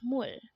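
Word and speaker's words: 물: to say it is me next word is mul again it's more and this is simply the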